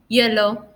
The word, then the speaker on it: hielo: So remember, haber, helado, hielo, hola, you. So just don't pronounce it.